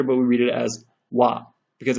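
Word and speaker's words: は: So just know, when being used as a particle, it's pronounced wa.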